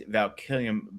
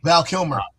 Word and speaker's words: Val Kilmer: He goes, "Because of who he was, replace Valkillium." Valkillium. I can't pronounce his last name. Val Kilmer.